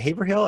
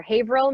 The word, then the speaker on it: Haverhill: Is it Haverhill? I can't never remember the name of your town. Yeah. You pronounce it like an out-of-stater. Haverhill, Massachusetts is Haverhill.